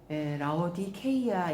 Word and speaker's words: 라오디게아: 라오디게아 교회, 라오디케이아 이렇게 발음을 합니다.